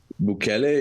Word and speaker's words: Bukele: Give us some backstory on, is it Bukele? Is that how you say his name? Bukele?